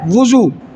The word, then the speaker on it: وضو: کرتے ہیں، وہ کہتے ہیں یار میں ذرا وضو کر لوں، وضو نہیں ہوتا، اس کا صحیح تلفظ کیا ہے؟ وضو۔ جیسے بعض لوگ کہتے ہیں جو فلاں بندے